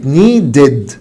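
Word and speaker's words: needed: نفس الكلام لو الفعل انتهى بدي، شكل نيد اللي معناها يحتاج بقت نيدد نيدد.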